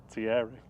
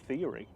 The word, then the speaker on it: Thierry: Well, Thierry, or as people always mispronounce it, Theory.